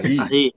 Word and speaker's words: ahí: Ahi. Silent. Silent. H. Ah e. Hermano Valerio Peles pronunciar ano balero styo paronya ai oi a